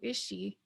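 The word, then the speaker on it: ishi: or take it so is she the first i sounds like a but the last i sounds like e okay so these are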